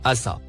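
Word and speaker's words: عصا: Le mot en surbrillance vert se prononce « assa ».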